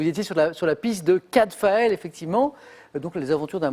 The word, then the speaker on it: Cadfael: Cavdale. Redites? Cavdale. Ah oui, c'est ça. En fait, c'est 2 consonnes qui s'intervertissent. Cadfael. C'est Cadfael.